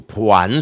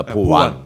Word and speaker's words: 보완: 그런 거냐 이 정확하게 발음을 안 알아두시고 보안 수사라고 하시는 분들 있지만 보완입니다. 보완 보완 보완에서 미비한게 있으면은 보충에서 완성한다는 보완 이거를 보완이라고 생각하시면 예 그거는 아니고요.